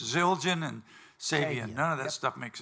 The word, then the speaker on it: Sabian: there's someone watching the Sabian huh Sabian Fabian wasn't he oh Sab like like Nick Sabin sa a sa a b i a n which is a sub